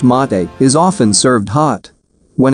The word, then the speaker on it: mate: national musical instrument paraguayan harp national drink mate pronounced mate is often served hot when it is served